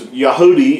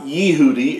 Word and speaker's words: Yahudi: And of course, Yahudi is not Yehudi, it's Yahudi.